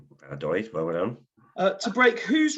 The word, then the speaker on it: Valladolid: side's victory over Real I'm never going to pronounce this. Valladolid. Valladolid, well done.